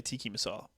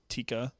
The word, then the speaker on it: tikka: A lot of people say tiki masala. What are you supposed to say it? Tikka. Chicken tikka. Tikka masala? Tikka masala, yeah. It's tikka. Tikka, yeah. I thought it was tiki.